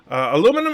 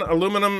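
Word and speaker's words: aluminium: channel to come down the British version of aluminum has an extra syllable it does aluminum is American aluminum is British I know are those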